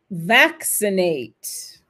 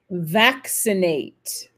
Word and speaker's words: vaccinate: Faut tout de même qu'on l'entende, cette diphtongue, même si elle n'est pas prononcée, même si elle n'est pas, accentuée, parce que sinon, vous allez avoir un mot qui fait ça, quoi, qui tombe sur lui-même, qui s'écroule sous son propre poids.